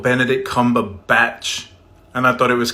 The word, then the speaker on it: Cumberbatch: But yeah, it's I swear I always heard it was Benedict Cumberpatch, and then like I literally like after that freak out, and it was so weird because like the guy fully pronounced it. He went Benedict Cumberbatch, and I'm like, that's so pooping in my ears. It's so wrong.